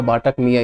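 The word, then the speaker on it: बत्तख मियाँ: इसका आंसर है बातक मियाँ। कुछ ऑल्टरनेट प्रोनाउंसिएशंस होगा इसका, तो देख लीजिएगा, क्योंकि लेकिन यहाँ पे इसको पढ़ा जाएगा बाटक मियाँ ही।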